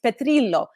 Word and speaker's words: Petrillo: example my last name if you were to truly give it the italian pronunciation it's petrillo am i honestly gonna